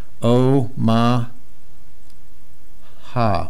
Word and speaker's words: Omaha: O, ma, ha, Omaha.